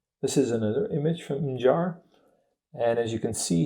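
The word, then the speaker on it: Mġarr: The G in this name has a dot above it. It's hard to see, but it's there, and it's pronounced J.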